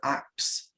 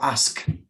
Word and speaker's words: ask: oxford yeah no it's a common mispronunciation in english to acts but an act is something you chop wood with yeah so don't forget it you get to get that before the so ask yeah there's no way